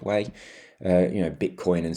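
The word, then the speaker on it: wei: and cents you have ether and way or we i think it's pronounced way uh you know bitcoin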